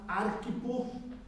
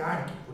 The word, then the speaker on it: Arquipo: irmã Áfia e a Arquipo, é assim que pronuncia? O Arquipo? É Arquipo, né? Porque ele não tem acento, ele não tem nada ali, né?